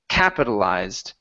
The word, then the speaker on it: capitalized: one is the uh the stress on this word the word is capitalized so the stress is at the very beginning of the word capitalized capitalized good all right